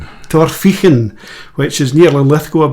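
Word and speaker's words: Torphichen: Torphic Torphin which is near Lithco I believe.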